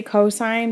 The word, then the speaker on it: cosine: sine not sin and then cosine is c-o-s and we say cosine but we abbreviate it with c-o-s and then tangent we